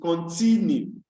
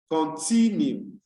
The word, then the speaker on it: continue: The fourth one is continue, continue. Now you realize that at the pronunciation of each of these words, it is